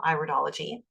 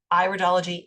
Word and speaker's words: iridology: pronounced idology not iridology it's iridology it's an iris okay and so with